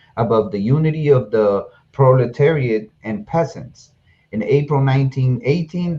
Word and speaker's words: proletariat: a traditional symbol of pro-proliferation riot i i guess that's how you pronounce it i know i slaughtered that proletariat oh proletariat proletariat yeah it's a symbol of